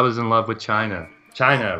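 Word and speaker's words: Chyna: in love with China China rhymes with vagina which is ironic had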